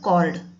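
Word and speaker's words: chord: इसका pronunciation कॉर्ड बोलते हैं, चौड़ मत बोलना, कॉर्ड ऑफ अ सर्कल।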